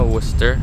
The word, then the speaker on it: Worcester: Tapi meskipun tulisannya kayak gitu, dibacanya Worcester.